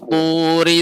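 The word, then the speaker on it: طُورِ: Ya, Abu Syafiq, ri-nya tidak dibaca panjang. Wa turi sinin.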